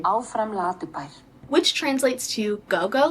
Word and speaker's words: Áfram Latibær: So here's the pronunciation. Áfram Latibær, which translates to Go Go Lazy Town, was